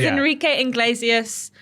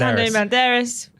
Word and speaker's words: Antonio Banderas: He's Enrique Iglesias, Puss in Boots. Enrique Iglesias? You mean Antonio Banderas? Antonio Banderas. I said it wrong.